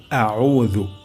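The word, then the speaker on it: أعوذ: রাজিম প্রথম শব্দটি হলো আউজু আমাদের এখানে আউ উ এর জায়গায় আ উয়া যেতে পারে উ অর্থাৎ হামজা উচ্চারণ হয়ে যেতে পারে তাহলে এখানে আমরা আইন উচ্চারণ করব গলার মাঝখান থেকে আউ আউ এমনটা হবে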